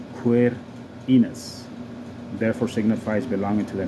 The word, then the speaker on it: Quirinus: distinguished from mars gradibus the koph a different letter from cape k-a-p-e and is frequently pronounced as a q queer enos therefore signifies belonging to